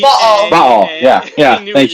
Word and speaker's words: Baal: You're still famous in our podcast for letting us know how to pronounce. Crap. Now I can't even think of the name. Baal.